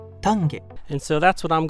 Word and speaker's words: Tange: Tang some people say Tangi some people say tange and with it being the Japanese name I looked up the correct Japanese pronunciation and it's tange tange and so that's what